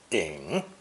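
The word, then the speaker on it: 顶: with the nail phonetic together pronounced third tone ding ding and since our nail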